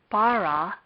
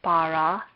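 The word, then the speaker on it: בָּרָא: Therefore, this is a consonant, but we will consider it to be silent and it will not be pronounced. The word bara is made up of 2 syllables.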